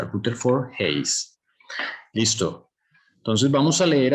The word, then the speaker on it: Rutherford Hayes: Así se pronuncia, Rutherford Hayes.